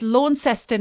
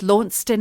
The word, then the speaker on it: Launceston: pronunciation we're still not we still never got to the bottom of lawnston launceston oh we did it's launceston in australia and it's launched in here in england well that's like houston